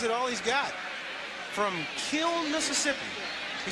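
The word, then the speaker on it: Kiln: from Kil, Mississippi. He said there's an N on the end and a kill, but you don't pronounce it. You just say kill.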